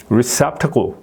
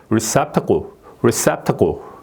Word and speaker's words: receptacle: 이것도 이제 이게 클 해야 되는데 지금은 이제 컬 이런 식으로 얼 발음이 되는 거죠. 예? 얼 발음이 receptacle 예, 이런 식으로 이게 얼로 발음이 되는 거예요.